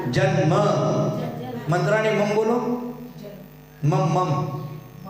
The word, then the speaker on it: जन्म: न का उच्चारण करो, ल का नहीं, और न आधा करना है, पूरा नहीं।